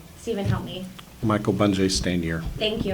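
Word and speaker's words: Michael Bungay Stanier: And then Michael Bunye Stain, I always say his last name wrong. Stephen, help me. Michael Bunje Stanier. Thank you. I always say Stanger with a G at the end.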